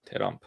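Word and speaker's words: ترامپ: Terrump. That's why people say ter because it's pronounced ter.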